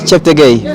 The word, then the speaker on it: Cheptegei: Hello everyone, my name is Joshua Cheptegei from Uganda.